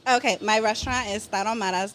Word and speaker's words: Tarahumaras: Okay, my restaurant is Tarahumaras #2.